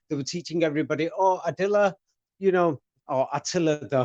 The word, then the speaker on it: Attila: In English, they pronounce it more with the T, Attila the Hun. Mm-hmm. Yes, but that doesn't mean English is correct.